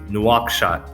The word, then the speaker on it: Nouakchott: that's the pronunciation of the city uh it's nuachsha it's uh it's pronounced just like it's spelled and it was